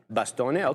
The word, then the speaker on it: Bastone: Bastone. Is that how you say it there, Katina, man? Is it Bastone or Baston? Short? I thought you told me to short the name. Yeah. Bastone, okay.